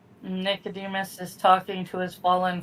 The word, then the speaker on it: Nicodemus: It's the the What does the first couple of syllables of that sound like? Angela Nick. Yeah. There you go. Like Nickelodeon.